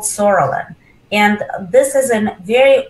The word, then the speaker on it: psoriasis: And when we combine psoriasis, which actually spelled with the P, is just silent, it's called PS, psoriasis.